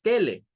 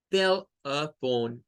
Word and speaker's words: telephone: Tell. Y miren, esta E queda solita. Ella queda sola y es un schwa. Tell a. Tell a. No es tele, es tell a. Tell a. Y luego, todo esto, la E no suena. Y esta suena a O. Es decir, un sonido largo. Tell a phone. Son 3 sílabas.